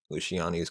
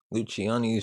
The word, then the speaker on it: Luciani: refused to yield to Luciani's continued demands to save the San Marco. Of course, I'm saying his name wrong. Luchiani's short stay in Rome made an impression.